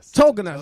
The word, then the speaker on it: Tauginas: Did I pronounce that correctly? Tauginas.